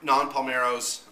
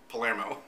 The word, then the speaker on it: Non Palmero: Flicks and Food, and it was Non Palmero's, not Palermo, as half the time I say his name wrong, but Non Palmero's birthday